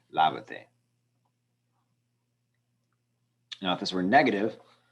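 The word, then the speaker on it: lávate: But when I add the te to it, it is now the same syllable is always going to be the stressed one. But now its relation to the end has changed. So we need to write an accent mark over that a, lavate.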